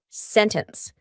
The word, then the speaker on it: sentence: lot of comments about how to pronounce the word sentence sentence or sentence ooh I say sentence and I've gotten so many comments of people saying Freya why do you pronounce it like that how did you say that well this is a lovely concept called the glottal T glal glus is kind